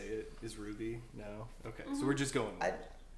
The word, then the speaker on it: RWBY: officially start what we're calling ruby pronounce it red white blue yellow we got mikey we